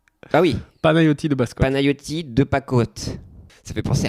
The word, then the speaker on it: Panayotis: Alors, ta bio Panayotis.